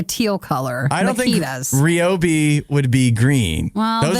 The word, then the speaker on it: Ryobi: Yeah, so you can recover after I dumped all over your Ryobi. I'm not even saying it right, I don't think. It's Ryobi.